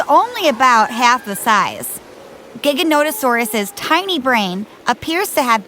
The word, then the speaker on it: Giganotosaurus: the next scene this one's name looks like gigantosaurus and actually was one of the largest meat-eating dinosaurs but its name is pronounced giganotosaurus part of what has made giganotosaurus so famous so quickly is that it was